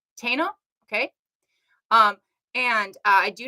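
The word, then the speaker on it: Taíno: mean that they're not taina and I said it wrong the first point it is Tana okay um and I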